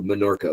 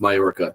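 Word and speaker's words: Menorca: Um, and we flew immediately from Barcelona to Monorca, which I know people are going to be like, it's pronounced Mayorca. No, Minorca is next to Morca.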